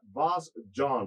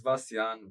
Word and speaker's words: Vasjan: All right, so I always say the name as Vasjan, but that's not how you say it. It's Vasjan, but I just Vasjan?